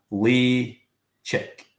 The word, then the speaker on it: Ledaig: was like right and they were like Lee chick and I was like ah I've got it now got it so Lee chick lay chick okay which do you